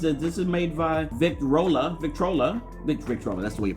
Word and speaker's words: Victrola: This is made by Victrola. That's the way you pronounce it.